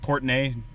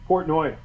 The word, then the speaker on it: Portnoy: do you say his last name is it portney dave portney portnoy portnoy okay like every everything barcelo does is